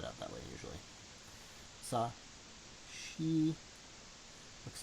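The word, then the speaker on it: し: You will notice here that shi is pronounced different. It's sa, shi, su, se, so. So you don't actually pronounce it like you would the others.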